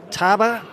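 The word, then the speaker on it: Tabwa: So, there's two Mackey's out there, Betty and Taba. I'm told it's pronounced T A B W A as Mackey, she goes right in front.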